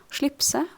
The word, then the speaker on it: slipset: So I'm not supposed to pronounce t in this case because it is neutral definite and it is pronounced without t.